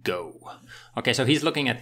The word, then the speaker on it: GHO: at this go token it's spelled g-h-o like ghost and they're calling it go so they're US dollar stablecoin is going to be called go okay so he's looking